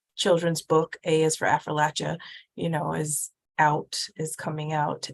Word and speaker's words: Appalachia: It depends what side of the mountain you're on. We say Appalachia back home. Appalachia. So if you're on my side of the mountain, it's Afrolatia, but if Okay, interesting.